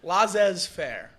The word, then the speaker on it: laissez-faire: I thought it was a bit, Laissez-faire.